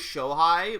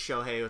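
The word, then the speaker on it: Shohei: versus Triple H see I thought it was Shai but like I've heard one person say his name ever and they said shohi so I'm going to assume it's shohi Otani um I'm I'm willing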